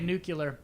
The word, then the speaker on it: nuclear: that nuclear sauce. I hate when people say nuclear. That's too many syllables. I'll eat a salad. Nuclear? It's nuclear. There's not fucking 3 syllables in the word nuclear.